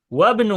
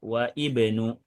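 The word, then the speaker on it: وَابْنُ: Wabnu Hamidin fil Hindi. Dan anak laki-lakinya Pak Hamid ada di India. Kita bacanya wabnu, tidak wa ibnu. Sementara yang awal kita bacanya ibnu.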